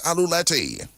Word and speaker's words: aluleti: word of the day for today, and that's aluleti. Aluleti. And that's funny in Kalanago. And that's spelled A L U L E T I.